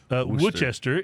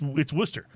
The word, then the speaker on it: Worcester: But it is not pronounced Worcester. It's Worcester.